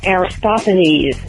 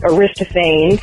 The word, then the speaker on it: Aristophanes: a suggestion for bread work on the pronunciations like Aristophanes not Arista fans plenty not Pliny and